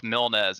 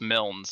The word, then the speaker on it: Mils: Most people just roll with Milz. It's Mils, so one syllable.